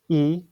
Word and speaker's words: y: with the letter y the letter Y by itself is actually the word and in Spanish so that's those two words it's pronounced e to means and you